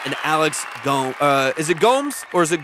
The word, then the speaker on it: Gomes: Is it Gomes or is it Gomez?